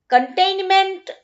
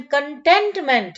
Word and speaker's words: contentment: कंटेनमेंट नहीं, कंटेनमेंट तो आपको पता है ना, वो कोरोना में कंटेनमेंट जोन हुआ करते थे. इसका प्रोनाउंसिएशन कंटेंटमेंट है.